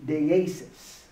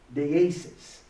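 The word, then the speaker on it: deesis: English angry but the Greek word is De Asus deases and it's spelled and he's got you know funny little things over the eyes and the E's but uh it's d-e-e-s-i-s and there's a uh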